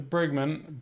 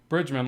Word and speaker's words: Bridgman: gonna pay attention to Bregman Bridgman I'm saying it wrong you know Bridgman like I'm told and and I'm starting